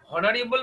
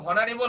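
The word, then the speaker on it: honourable: সেখানে এ বসাইতাম কিন্তু এখানে এইচ এর উচ্চারণটা হচ্ছে না দ্যাটস হোয়াই আমাদের এন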